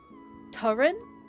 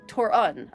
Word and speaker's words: Torun: It's strictly Scandinavian, but it's kind of like an sound at the end. Like the U and under. Torrin? Is it Turin then? Did I say that correctly? Oh, Torun. Okay, Torun. Like that, Torun.